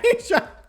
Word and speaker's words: Aja: What I will say in my defense is phonetically, AJA may or may not confuse the fucking shit out of me if it's pronounced Asia.